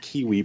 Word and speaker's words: KWE: She likes to pronounce it Kiwi Publishing.